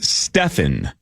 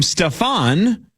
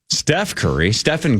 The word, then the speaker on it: Stephen: In Nike's presentation, they famously called him Stefan and had a leftover slide from a Kevin Durant presentation. So Nike botched it. They didn't even say his name right, and they clearly had